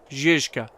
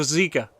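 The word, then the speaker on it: Žižka: Zizka. That is how it's pronounced. I'm American, and most of us call it either the Zizka, because it's a Z, so Ziz, not Ziz, or the Zika, because some people don't realize there's another Z in there.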